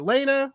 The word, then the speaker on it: Lana: Is it Lena? What Lena, right? Lena. Lana is how I pronounce it, but yeah.